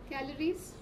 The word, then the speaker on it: calories: And where is the stress for calories? Calorie. The word is calorie. Calories. C. C. Right? The first syllable is stress.